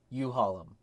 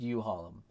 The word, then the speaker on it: Uhalm: all downloads for like you Harlem it's pronounced you hollom uh I'll be hosting